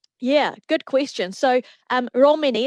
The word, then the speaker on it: Romene: So, um, Romani is how we pronounce. It's the tero word for, um, Romney as in a sheep breed, which, um, is found all over New Zealand.